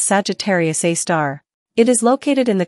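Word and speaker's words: Sagittarius A*: black hole is called Sagittarius A asterisk pronounced as Sagittarius A star it is located in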